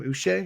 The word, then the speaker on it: Uche: Uche. Do you say it Yeah, Uche yeah, or yeah, uh, yes.